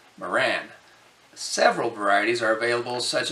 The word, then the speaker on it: Marans: If you look at French language rules, the S is silent and so pronounced Maran.